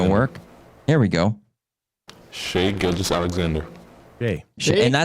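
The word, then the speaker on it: Shai: Shy Gildress Alexander or Here we go.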